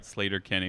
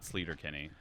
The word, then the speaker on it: Sleater-Kinney: flight of the conchords later kini The Shins pronounced it right sleater-kinney we got in an argument about that not too long ago that it's pronounced sleater-kinney and not sleater-kinney anyway I would love to be around for